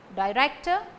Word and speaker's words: director: Director, stress falls on rector.